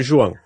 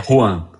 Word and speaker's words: Juan: é a pronúncia original, mas tá de bom tamanho. E é Juan, não é João? É Juan.